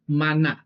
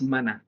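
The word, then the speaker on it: מן: Tan acostumbrado al español, todos conocen el maná que baja del cielo. ¿Vale? Eso suena en español. En hebreo no es maná, es man, ¿vale? Aquello que cae del cielo fue man.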